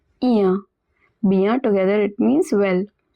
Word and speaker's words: bien: Eh bien, bien, remember I-E-N at the end of a word is pronounced as bien.